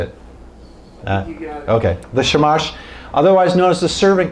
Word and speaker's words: shamash: it how do you say it okay the shamash otherwise known as the servant candle that's the